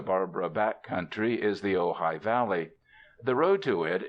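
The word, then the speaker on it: Ojai: Ohioans tell you that the queer name of their home you are to pronounce it ohigh is Indian for nest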